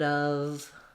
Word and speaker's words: of: and a v sound so the word of is actually a schwa and a v um even so there's no o no f sound period of and then for time